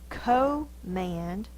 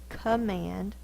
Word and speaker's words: command: that looks open but we don't say say command that's not the long o it's a command it's actually the schah because it's in the unaccented syllable because if our dog was named command we'd go command so Mand is the stressed syllable this is the unstressed